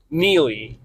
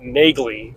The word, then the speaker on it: Neagley: Her last name is spelled Neagley, but on the show they pronounce it Neely, yet the audiobook narrator says it Nagley or something like that.